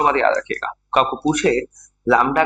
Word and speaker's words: लैम्ब्डा: इसको डिनोट किया जाता है लैम्ब्डा और इसको लैम्ब्डा लैम्ब्डा पढ़ते हैं हम लोग उल्टा y टाइप का सिंबल आएगा ये इसको प्रोनाउंस क्या करना है ये प्रोनाउंस करना है